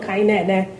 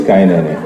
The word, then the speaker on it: Kainene: Oh, some of the names, for instance, the way Tandy kept pronouncing Kainene, it's, instead of Kainene or Olanna. So I'm just curious, did they use, because I'm Igbo, so... Yeah, well, it is Kainene.